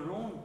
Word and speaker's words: ronde: The de of the ronde in French is mute, in fact, it's too